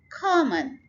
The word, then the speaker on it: common: Common, first syllable को stress करें.